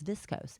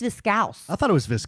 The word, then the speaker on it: viscose: I thought it was discos. It's viscose.